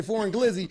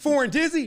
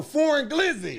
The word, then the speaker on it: Foreign Glizzy: Proper pronunciation. Yeah, you say Foreign Glizzy. Foreign Dizzy? No, Foreign Glizzy. Foreign Spizzy? No, Foreign Glizzy.